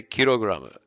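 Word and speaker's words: キログラム: kilogram you'd still say kirograma so the japanese kirograma which is just the japanese pronunciation of kilogram but they actually made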